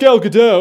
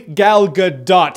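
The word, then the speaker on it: Gal Gadot: There is a T there. So, it is officially Galgadot.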